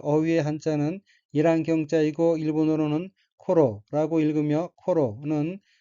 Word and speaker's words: 頃: 넷째 줄 어휘의 한자는 일한경자이고 일본어로는 코로라고 읽으며 코로는 때, 경, 무렵, 쯤이란 뜻의 명사입니다.